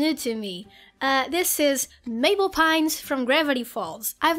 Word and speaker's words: Mabel: in the whole world my name is Mabel it rhymes with table it also rhymes with label it also rhymes with